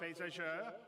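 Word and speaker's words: Beausejour: And without me waffling on, I'd like to bring CIG's CTO, Benoit Bézageur.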